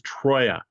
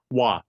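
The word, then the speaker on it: Troyes: numbers, that input randomness, is Troya, or Troa, T-R-O-Y-E-S. I've heard it pronounced both ways.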